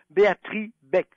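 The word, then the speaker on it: Béatrix Beck: femme merveilleuse qui s'appelle Béatrice Beck. Ça s'écrit avec un X et le X ne se prononce pas.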